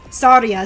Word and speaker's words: Tharja: I know that a lot of Western fans say Tharja, but in Japanese it's Saria, so I'm just like, I don't fucking know.